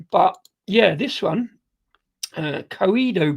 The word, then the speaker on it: Coedo: Um, but yeah, this one, uh, Coido Brewery, that's how you say it, from Japan.